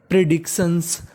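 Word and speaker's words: predictions: आई ओ एन और टी आई ओ एन को हम लोग इंग्लिश में पढ़ते हैं शन क्या पढ़ते हैं शन तो मीनिंग बन गई प्रिडिक्शंस प्रिडिक्शंस प्रिडिक्शंस का मतलब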